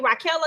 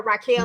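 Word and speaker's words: Raquella: that what you say her name is actually raela because I've been calling her Raquel like she gonna be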